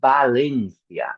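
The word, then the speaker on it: Valencia: But unfortunately in Spanish the people don't differentiate. So we say balencia.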